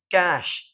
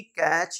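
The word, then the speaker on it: cache: rank होता है next कैश सी ए सी एच ई ये होता है कैश ना कि कैच या कु कु और कैश का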